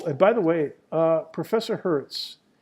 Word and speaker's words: Hertz: Frequency measured in cycles per second, or hertz, capital Hz. Oh, and by the way, Professor Hertz, his last name is spelled like the rental car company. Hertz Rent-A-Car, H-E-R-T-Z.